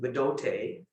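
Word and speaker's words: Bdote: And we go to Bidote, that's spelled B-D-O-T-E.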